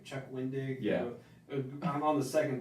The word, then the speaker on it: Wendig: And everyone that watches keeps on complaining and keeps on telling them it's pronounced Chuck Wendig, not Chuck Winding. It just sounds like he's saying Chuck Winding.